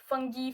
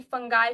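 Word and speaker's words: Fungi: Then third is kingdom फंगी, फंगाई, फंजाई. इसके बहुत सारे प्रोनाउंसिएशन है, जिसमें जिससे इसमें सारे मल्टी सेलुलर यूकैरियोटिक ऑर्गेनिजम्स होते हैं.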